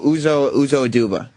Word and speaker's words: Uzo Aduba: Welcome to the show, Uzo Aduba.